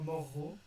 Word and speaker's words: morro: Corro, et on en reparlera, Morro. En fait, il faut que vous sépariez le verbe en deux et que vous prononciez les deux R dans 2 syllabes séparées.